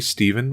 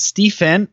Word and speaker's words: Stefin: well okay this seems like an interesting story Steven what I wanted to it's Stefan it's a fishpond Stefan I see Stefan look